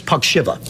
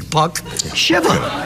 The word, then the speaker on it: Puck Shiva: Think of a hockey puck on the ice shivering. Puck Shiva.